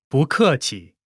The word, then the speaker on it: 不客气: When 不， is followed by a fourth tone, its tone changes from the fourth tone to the second tone.